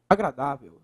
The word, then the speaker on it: agradável: a Gra dá Vel Qual é a sílaba mais forte a professor da agr veu olha lá última penúltima se é a penúltima nós temos uma paroxítona certo é uma paroxítona